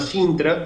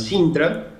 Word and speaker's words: SINTRA: Digamos, el sistema que tiene de registro de actividad de trasplante en INCUCAI se llama Sintra, es un digamos, registro online, en tiempo real,